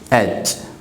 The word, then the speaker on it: H: ये यच नहीं होगा, क्या होगा, एच। यच प्रोनाउंस नहीं करना है आपको। क्या प्रोनाउंस करना है इसे, एच प्रोनाउंस करना है। यच अगर प्रोनाउंस करते हैं तो ये रॉन्ग है।